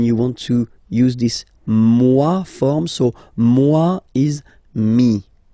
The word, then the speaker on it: moi: So remember this OE combination give you the sound wa wa wa, moi.